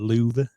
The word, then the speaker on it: Louvre: yeah the loo the louvre the re is kind of silent the re is silent